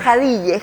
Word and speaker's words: Jadille: ¿Cómo se pronuncia? Jadille.